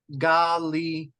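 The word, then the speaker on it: Γαλιλαία: How do you pronounce this diphthong? As in freight, eight. So, oh, yes, sir. So, Galilea.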